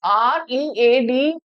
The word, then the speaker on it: read: Now, though it is R-E-A-D, we pronounce it as read, but the spelling is the same.